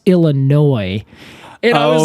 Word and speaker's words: Illinois: Illinois State University so I was saying Illinois and then they cut me off and then they stopped and were like It's pronounced Illinois and I was like